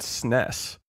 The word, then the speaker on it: SNES: like a lot of people called it SNES. It's because it's one syllable. Easy to just bunch it up. Yeah, but for something about saying SNES just sounds really unappealing to me, like almost like a sneeze.